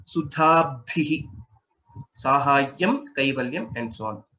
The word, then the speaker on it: सुधाब्धिः: So in this word, if you see, there are two mahapranas, dha and dha again. Sudhabdhihi, Sahayyam, Kaivalyam, and so on.